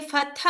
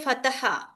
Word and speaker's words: fatha: We will read first letter, then hamza, fatha, okay, fatha also you must pronounce clearly. Don't say fataha.